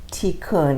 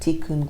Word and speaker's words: tikkun: the one that I am with is called tikkun and I'll spell that it actually means restoration but it's t